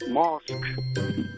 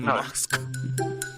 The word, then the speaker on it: Musk: kja they've now learned oh it's Elon Musk not Mosk sorry John it's Elon who musk it's not Elon who mosque You' been saying it it's not Elon Musk it's Elon Musk musk yes say this